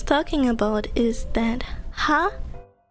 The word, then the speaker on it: は: What I was talking about is that ha is often pronounced as wa when it means is. But in words, it's not pronounced wa.